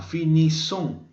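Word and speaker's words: finissent: debe tener esta forma finiss nu fin fin y luego la última persona fíjate que se pronuncia IL Finis es decir la terminación e n no suena recuerda que en francés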